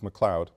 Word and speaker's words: McLeod: Mary McLeod Bethune and the spelling is correct in the pronunciations corrects McLeod Mary McLeod Bethune the